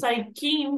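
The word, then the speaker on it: 最近: This is saikin. King. Saikin means lately. So your Lately. job is to remember the kin part of saikin.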